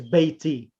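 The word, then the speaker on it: بيتي: pronoun comes my the the word beiton receives a casala due to the weak letter full illah so it's baiti whereas the other possessive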